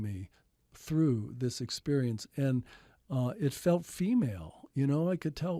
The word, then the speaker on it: ऐ: So I, 12th letter, pronounced like the I in sky.